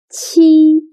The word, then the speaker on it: 七: 七 sounds similar to the first sound of cheap. But when pronouncing 七, your tongue should be more flat. And also, you need to stretch your mouth to two sides. 七.